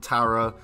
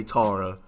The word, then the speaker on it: Tara: talking about today is tara or as americans pronounce it tara uh i'm british so i say tara sorry not sorry and